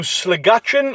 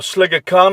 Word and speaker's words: Sligachan: So I think what we'll do is I'll head up to Sligachan, or Sligacan I think it's pronounced, which is kind of a little bit of a central hub here on the island.